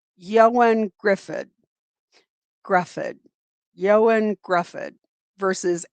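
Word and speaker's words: Ioan: Um, his name is, uh, she pronounced it right, but most people are pronouncing it Ian. It's Yoan Yoan Griffid Gruff.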